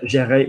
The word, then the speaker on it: gérer: Notice that it's a soft G because there's an E after it. Okay, so if you had guerre, like the war, notice it's a hard G.